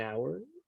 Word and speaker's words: hour: Because the H is silent in some situations.